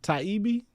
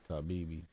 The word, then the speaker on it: Taibbi: Taibbei. Taibbe. Matt. Taibbe. Taibbei. Yeah. Oh, okay. I thought it was Tabibi.